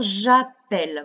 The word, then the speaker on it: j'appelle: Ainsi, pour dire j'appelle, vous entendez bien le son E, nous devrons mettre deux L. Donc, j'appelle, J' A, 2 P, E, 2 L, E.